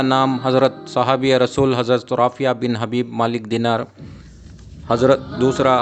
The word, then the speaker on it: Rafih: और इस यहाँ के मुकामी लोग आपको राफ़िया बिन हबीब के नाम से पुकारा करते हैं, और असल में प्रोनाउंसिएशन राफ़ी है इन सरकार का नाम।